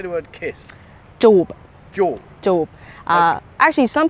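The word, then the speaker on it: จูบ: JOOP. JOOP. JOOP. Okay. Actually, some people shorten it and make it more like fun, as in JOOP. JOOP. JOOP. Okay. So there's JOOP and there's JOOP.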